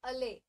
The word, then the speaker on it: allay: इसका pronunciation is अले।